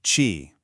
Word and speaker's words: qi: First up, we have chi. that's pronouncedqi. This is the yang side of the equation.